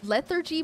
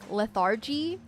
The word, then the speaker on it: lethargy: I say lethargy more like the first part of lethargic. Lethargy? So lethargy rather than how they pronounce it like panther, where the th noise is separate.